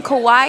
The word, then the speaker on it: Kauai: Kauai.